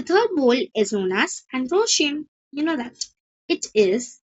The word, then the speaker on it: androecium: Third word is androecium. यहाँ पे मैंने लिखा भी है इसकी स्पेलिंग, लेकिन अगर आपको यहाँ से नहीं दिख रहा है तो मैं आपको लिख के भी बताती हूँ।